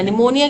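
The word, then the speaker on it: pneumonia: कर है right निमोनिया निमोनिया के स्पेलिंग इनकरेक्ट है पी एन ई यू एम ओ एन आई ए निमोनिया ये होते है निमोनिया के स्पेलिंग सो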